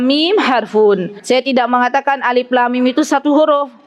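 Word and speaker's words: الم: Mim itu satu huruf ibu-ibu ini dibacanya Alif Lam Mim bukan alamah kalau yang belum belajar Tahsin dibacanya apa alamat padahal bukan alamat Apa bacanya Alif Lam Mim Masyaallah namanya Huruf apa ini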